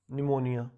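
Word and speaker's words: pneumonia: इसके बाद नेक्स्ट जो बीमारी है निमोनिया भाई, निमोनिया, इसमें पी साइलेंट है इसलिए पहले लिखा जाता है भाई निमोनिया।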